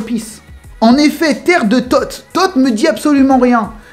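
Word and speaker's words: Thoth: En effet, terre de Tot. Tot me dit absolument rien. Mais si on l'écrit t o th h le h muet, et ben ça donne le nom d'un dieu égyptien.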